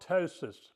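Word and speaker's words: ptosis: That's called tois. is spelled P T O S I S. The P is silent.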